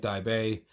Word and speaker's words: Daibei: I realize Daibei can be pronounced a few different ways. I'm going to be calling it Daibei. If you pronounce it some other way, that's fine.